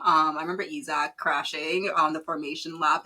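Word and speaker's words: Isack: You're right, that is how you pronounce his name. I remember Isaac crashing on the formation lap and him being taken out.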